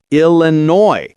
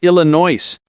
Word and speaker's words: Illinois: The S is silent. Illinois, not Illinois.